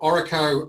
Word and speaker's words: ORRECO: association yeah yeah of course so um so oracle um as we pronounce it so it stands it's sort of